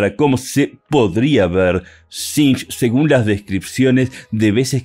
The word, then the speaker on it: Tzeentch: la transformación El Dios del caos conocido como sinch Y sí esa es la correcta pronunciación no es sench no es sench no es sinch así se